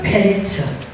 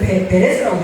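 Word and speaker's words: פרץ: 파레츠 페레츠. 똑같은 글자가 모음만 바뀌면서 두 반복해서 나와요. 나오죠? 그래서 뭔 세계를 강조하는 거예요? 페레스, 여기서는 베레스라고 되어 있죠. 발음은 페레츠예요.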